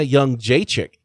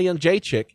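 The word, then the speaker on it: Jędrzejczyk: Someone who should have zagged and has a lot of zags in her name is Joanna Young Jacek. You don't pronounce any of the Z's, but they're there.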